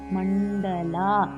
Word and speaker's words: மண்டல: பிரம்மாண்ட மண்டலா மண்ட மண்டலா டாக்கு மேல மூணு இருக்கு அப்படின்னா நடனம்ல வர டா மாதிரி உச்சரிக்கணும்ு மனோரூபேக்ஷு கோதண்டா பஞ்சதன்மாத்ரசாயகா நிஜாருண